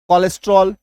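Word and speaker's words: cholesterol: क भी होता है यही सीच का उच्चारण क भी होता है जैसे कोलेस्ट्रॉल ठीक है कोलेस्ट्रॉल फिर आपका केमिस्ट्री ठीक सी शुरू में है लेकिन क हो रहा है यहां पर एक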